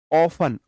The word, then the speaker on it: often: इसका उच्चारण "ऑफन " होता है। ऑफन, ओ-एफ-टी-ई-एन। इसमें "T" अक्षर साइलेंट है।